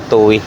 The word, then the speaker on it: Tuy: nandiyan na toy pero ang pagkabigkas ka talaga nila toy pero as in toy talaga kaya lang syempre yun